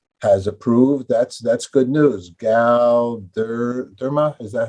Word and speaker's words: Galderma: Galderma, is that how do I pronounce their name?